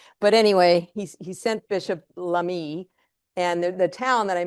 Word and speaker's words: Lamy: But in 1850, the Catholic Church sent a bishop, Bishop Lamy is the way that's pronounced, Bishop Lamy.